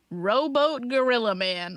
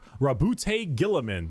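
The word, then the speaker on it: Roboute Guilliman: Rowboat Gorilla Man. What's happening? Primarch, Rabute Gilliman.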